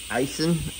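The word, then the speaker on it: Aisin: Eisen. It looks like it's spelled Asian.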